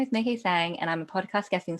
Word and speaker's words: Mai-Kee Tsang: myself so hi i'm may k sang so think of the month of may that's decay and i've got a silent t in my surname all right so my name is nikki sang and i'm a podcast